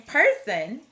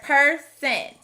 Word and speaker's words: person: next word is person this word has another schwa instead of hearing person with a short o we hear per sen since the rest of